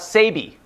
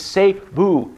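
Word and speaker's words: Sæby: to go to Cebu see I'm even pronouncing that correctly when I used to call it Sabi no it's safe boo City by the Sea so we're gonna drive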